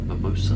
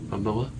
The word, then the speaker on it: Momoa: I thought Jason Mimosa, I guess. Momoa, no S in there.